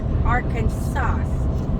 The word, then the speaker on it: Arkansas: settlers in the region the word arkansas is pronounced with a silent s at the end interestingly it is against state law to mispronounce the word arkansas while in the states